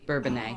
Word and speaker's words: Bourbonnais: There, Bourbonnais, that's how you pronounce it, right? Bourbonnais. Bourbonnais, right? Yeah, no, No, it's an S. Yeah. sound. Bourbonnais. Oh, Bourbonnais, okay. Yeah, it's French.